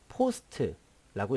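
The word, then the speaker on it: POST: 그 다음에 이것을 시모스라고 읽고 이것을 포스트라고 읽습니다.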